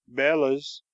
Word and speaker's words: bellows: I know a man who always calls them bellas, which is, I believe, the professional pronunciation.